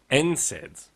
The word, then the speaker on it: NSAIDs: NSAIDs. NSAIDs. Right. Incaids. So from the Australian brain, I thought that was NS AIDS and I don't want AIDS.